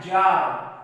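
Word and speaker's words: czar: ये देखो दोस्तों, यहाँ पर आपको ये जो सी है वो साइलेंट है, आप इतना ही पढ़े इसको। यहाँ पर दोस्तों जो सी है वो साइलेंट है, आपको इतना ही पढ़ना है।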